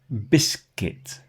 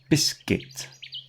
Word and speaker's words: biscuit: Just ignore the U completely. Build. Circuit. Circuit. Biscuit. Biscuit. You see there's no U in there. Well, there is, but you can't hear it.